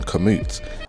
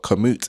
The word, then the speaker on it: Komoot: explain for non-cyclists what Komoot is. Hi Dad, enjoyed the cycling video as usual, but you say Komoot instead of commute. It's not Komoot, it's commute. My dad thought I was mispronouncing commute. Anyway, for those of you